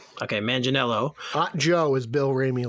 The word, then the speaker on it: Manganiello: Manganiello. Okay, Manganiello.